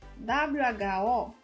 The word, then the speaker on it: who: Presta atenção que sempre que é W-H-O, who, whom, whose, tem som de dois R's.